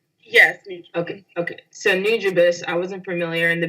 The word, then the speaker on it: Nujabes: you brought that up because I was it's pronounced nujabes right yes okay okay so new jeebus I wasn't familiar in the beginning but when